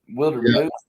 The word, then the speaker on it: Wildermuth: Um, so is it Wilder Muth? Wilder Muth.